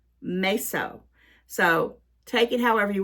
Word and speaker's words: Miniso: And when I Googled it and the pronunciation, it sounds nothing like my English interpretation. It's Meso.